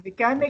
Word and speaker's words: mechanic: So the stress is on the second syllable. So mechanic. Mechanic. Yes. Mechanic. Yes. So that's how you pronounce the word.